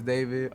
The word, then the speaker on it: D4VD: Hello, my name is David. Pronounce David not D4VD.